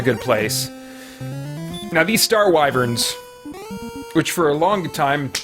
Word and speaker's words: wyvern: i'm in a good place now these star wyverns which for a long time until actually just